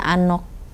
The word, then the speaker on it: Anouk: Nah ee perempuan Belanda ini namanya Anok. Anok. Heeh. Jadi kalau misalnya ejaannya tuh A N O U U K itu bahasa Belanda kayaknya ya.